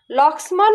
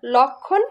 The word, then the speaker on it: লক্ষ্মণ: তাহলে শব্দের মাঝে যদি ম ফলা থাকে, সেই ম ফলা যে বর্ণের সঙ্গে যুক্ত আছে সেই বর্ণকে আমরা দ্বিত্ব উচ্চারণ করি, অর্থাৎ দুইবার উচ্চারণ করি।